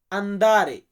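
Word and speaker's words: andare: known মানে না লাশে আন্দারে আসলে লাশে না এখানে আমরা উচ্চারণটা করবো আন্দারে আমি তোমাকে যেতে দিব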